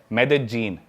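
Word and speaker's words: Medellín: उसकी एक सिटी है मेदजीन। स्पेलिंग में उसमें डबल एल आते हैं। मेदलीन होता है। लेकिन कोलंबियन स्पैनिश में ल को ज बोलते हैं।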